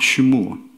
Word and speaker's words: 시므온: 사실은 발음이 시므온이 아니고 쉐마, 쉬무온.